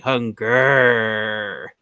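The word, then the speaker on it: Hun-Gurrr: So the way you pronounce his name, you're supposed to pronounce his name like Hunger.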